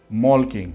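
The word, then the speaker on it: Molching: It's actually spelled as Malching, but then it's pronounced Malking as far as I can tell.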